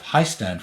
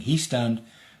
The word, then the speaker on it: Hiestand: be he stand I used to call myself High stand for a long time because I thought that that would be the way the English would pronounce it but that meant that everyone spelled it wrong and now that I'm saying he stand people are starting to spell it correct so I think that's the way to say it um